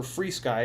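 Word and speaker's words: FrSky: issue with with an fr ski far ski great fr sky um uh or free sky is how it's supposedly pronounced uh free sky xm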